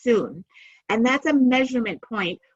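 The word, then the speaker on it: cun: term soon it's pronounced it's written C UN but it's pronounced soon and that's a measurement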